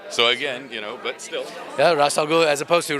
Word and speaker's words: Ra's al Ghul: you get to play the Arabic pronunciation is Ra's al Ghul which translates to head of the demon so again Ra's al Ghul as opposed to race which apparently is the